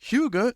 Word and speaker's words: hygge: one originally next is hygge or Huga it's pronounced hyuga coming from the Danish word to give courage Comfort